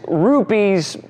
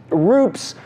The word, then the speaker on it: Rupes: you to the new RZ rupes rups however you want to pronounce it the new mark 2